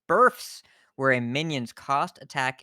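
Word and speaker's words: berfs: word that's written here b-e-r-f-s i didn't mispronounce it burfs where a minions cost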